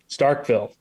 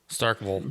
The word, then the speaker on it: Starkville: Starkville. No, you're wrong, Tim. It's Starkville. And and they're It's just like Louisville. Yeah, yep. Exactly. So it's not soil, it's soul.